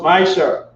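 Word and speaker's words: מעשר: to 10 he stands in hebrew and is pronounced maisha 10 of every penny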